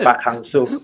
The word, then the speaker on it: Park Hang-seo: Jadi tadi waktu Park Hang-soo, bacanya Park Hang-soo. Park Hang-soo, yes.